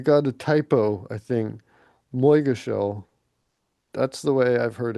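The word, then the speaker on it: Moygashel: Moigashell. That's the way I've heard it pronounced.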